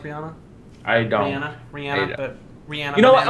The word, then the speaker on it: Rihanna: I'm mixed between Brennan and Rihanna. That's so hot. Even though apparently that's not how you pronounce Rihanna. It's Rahina. I don't think that's accurate.